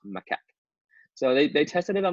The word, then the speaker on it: macaque: They tested it on macaque monkeys. Here, I had to look up the word. It's this word right here. And if you look up how to pronounce it, it's pronounced macaque.